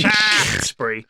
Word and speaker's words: Shaftesbury: it looks like it just about covers Sherborne, Shaftesbury, Gillingham, Blandford you Forum, mispronounced that, sir. Swanage, it's Shaftesbury.